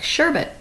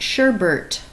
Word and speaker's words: sherbet: It's that delicious treat we all like, sherbet. But it is not sherbet. There's no R next to that last T there. It's sherbet.